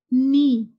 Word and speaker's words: knee: In English language, always remember whenever K comes before N, we will not take the sound of K.